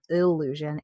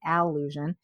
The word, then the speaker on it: Allusion: So it's spelled Allusion, not illusion, Allusion.